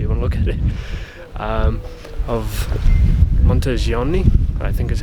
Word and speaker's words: Monteriggioni: small town however even look at it of monteriggioni I think is how it's pronounced so we're just having a wander around